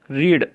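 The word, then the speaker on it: read: काम क्या आता है रीड रीड रीड की सेकंड फॉर्म और थर्ड फोरम की स्पेलिंग से मोती रेड रेड रेड यह रीड जो शब्द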